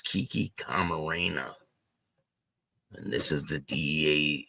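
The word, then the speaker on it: Camarena: to prosecutors the here's a picture of Kiki k Marena she said the name wrong but it's Kiki Karena and this is the DEA agent that was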